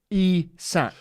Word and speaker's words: Isak: like this right we've got a Swedish pronunciation it's isak e sack you know what's hard is I've seen him say I suck oh there he goes Isaac Isaac there you go